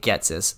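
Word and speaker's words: Ghetsis: I probably am, because I've heard that pronounced so many ways, but I'm pronouncing it Getsis.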